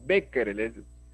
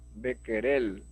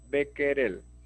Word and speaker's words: Becquerel: becquerel alma al mar no es becquereles becker el a becker el de querer es un nombre francés se produce a becker él mejor es pronunciarlo como si fuese español sale mejor ok y